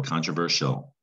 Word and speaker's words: controversial: That does not look like shill. So you have to know S-I-A-L, shill, controversial.